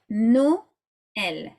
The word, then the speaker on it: Noël: So for instance, Noël, yeah, Noël, 2 syllables.